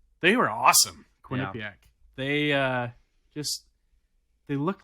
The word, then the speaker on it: Quinnipiac: Next on the docket, Michigan hockey ends their run through the postseason hockey season in the Frozen Four against the eventual champions, Quinnipiac, out of Connecticut, which, what a year for Connecticut, man.